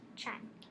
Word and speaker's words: chime: So the I is long. What word is it first? Chime. Chime. It's followed by a Mm-hmm. and then the E is silent.